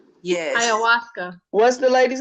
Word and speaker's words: ayahuasca: But it'll tell you all about I don't even know how to pronounce it. Ayahuasca. Yes. Ayahuasca.